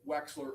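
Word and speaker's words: Wechsler: That would be the weights, the Wexler adult intelligence scale.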